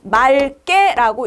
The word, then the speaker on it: 맑게: 그랬을 땐 기역이 아니고 리을로 읽어야 되겠죠. 그러니까 맑게라고 읽어주셔야 되는 겁니다.